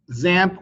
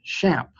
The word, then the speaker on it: XAMPP: I recommend that you install xampp or zamp or as I found out recently I've been pronouncing it wrong the whole time the website calls it shamp if you're using a